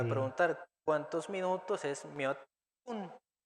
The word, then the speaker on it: 몇 분: El sonido de piup se intensifica y suena como pu. 몇 분. 몇 분이에요. Y repitan ustedes cómo se dice cuántos minutos. 몇 분 y ello.